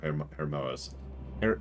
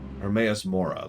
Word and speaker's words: Hermaeus Mora: And that does put him a little bit above Hermoas. Oh my god, I always have trouble pronouncing that one. Hermaeus Mora, there we go.